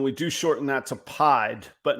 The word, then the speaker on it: pied: I thought we were going to be able to skip past pronouncing pied, but it is pied.